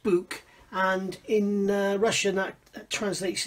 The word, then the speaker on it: Buk: about as I said it's pronounced book and in Russian act